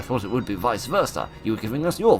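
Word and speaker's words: Werther: I'm highly mistaken um the W is pronounced like a V that's why it's the Sorrows of young Versa not the Sorrows of young wurta if I remember correctly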